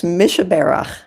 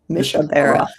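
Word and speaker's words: Mi Shebeirach: Um and uh I don't know if I can pronounce this properly, but it's me sky. Yeah, it's Mishabara. Mishabara.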